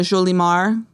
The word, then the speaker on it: Jolimar: There's like an H in there, and I had a Jolimar. because they don't pronounce J's like we do. Yeah. Right? Yeah. In the Latin American countries, it's like a huh. Yeah. Jolimar.